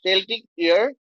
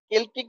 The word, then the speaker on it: Celtic: তার মানে সেল্টিক ইয়ার, sorry কেল্টিক ইয়ার, এই যে কেল্টিক কেল্টিক উচ্চারণ করা হয় কেল্টিক ইয়ার।